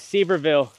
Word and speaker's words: Sevierville: Trey, where's Sevierville? Sevierville? However you fucking pronounce it. Is it S-E-V-E-I-R? It's S-E-V-I-E-R-ville.